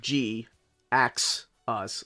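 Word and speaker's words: Jhiaxus: so the character of G axis spelled with a JH I a XU s by the way is a play on the word g ax us like he knew we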